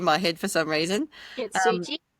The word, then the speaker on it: Kintsugi: Kintsugi. Kintsugi, is it?